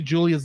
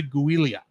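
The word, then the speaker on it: Giulia: Julia for the triathlon every time I see Julia's name because it's spelled g-i-l-u-l-u-i-l-i-a I keep on say guilia um that makes sense but her name is Julie Julia Julia Italian fun anyway Julia invites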